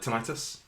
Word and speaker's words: tinnitus: But it's like tinnitus. Tinnitus. Yeah, tinnitus. Tinnitus. Like a I've loud heard whine. both pronunciations Yeah.